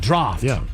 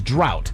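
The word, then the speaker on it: draught: An unusual spelling that doesn't reflect its pronunciation, particularly with the silent gh. A common misprononunciation that you might hear is drought or draft.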